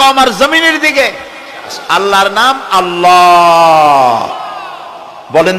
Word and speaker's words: আল্লাহ: জমিনের দিকে আল্লাহর নাম আল্লাহ বলেন তো আল্লাহ নয় কিন্তু আল্লাহ হচ্ছে অশুদ্ধ শুদ্ধ হচ্ছে আল্লাহ বলার সময় মুখটা গোল হয়ে যাবে বলেন তো সবাই উচ্চারণ